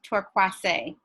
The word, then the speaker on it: Torkwase: My name is pronounced Torkwase. Torkwase, sorry.